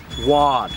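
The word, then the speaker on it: Waud: I've been saying Woad for about 20 years now, and just this year I met a family descendant, and their grandparents from long ago pronounced it Wad.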